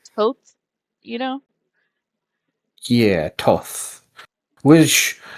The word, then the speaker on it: Thoth: the way that I've seen it, the way that you're supposed to pronounce it, the TH, it's supposed to be like an aspirated T.